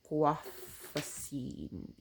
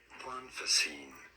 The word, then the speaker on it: Guanfacine: I'm prescribed 2 milligrams of extended release guafacine. Guafacine. Let me Google how to pronounce it.